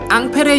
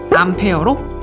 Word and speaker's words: 앙페르: 이때부터 본격적으로 전류라는 용어가 사용되게 되고, 이 공로를 인정받아 훗날 전류를 지칭하는 단위를 앙페르의 영어식 발음인 암페어로 명명하게 되죠.